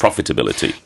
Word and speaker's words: profitability: Because certainly certainly when I grew up profit you put the emphasis on the so therefore for me pronunciation is profitability.